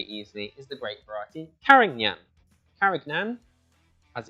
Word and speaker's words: Carignan: sugars really really easily is the great variety karangnyan karagnan as it's spelt carignan or karin yan as it's pronounced uh there's a spanish name for it